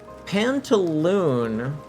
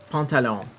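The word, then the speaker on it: pantalón: Pantaloon is like the way that English speakers that don't know any better pronounce the word. Pantalon. They pronounce it like wrong, but pantalon means pants.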